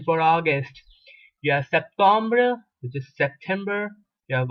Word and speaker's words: septembre: You do not say Septembre, you say Septembre.